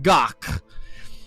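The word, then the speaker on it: gagh: it's it's a Klingon delicacy of serpent worms pronounced doc the taste is mercy in gaming it's not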